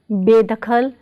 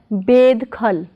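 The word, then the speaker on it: ਬੇਦਖ਼ਲ: So Be plus Dakhal is बेदखल, not bedkhal, but बेदखल, बेदखल.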